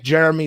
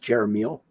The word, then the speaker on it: Jeremiel: Anyway, I want to thank Jeremy so much for coming on. And, actually, it's pronounced Jeremiel. Yeah, sorry, Jeremiel, aka.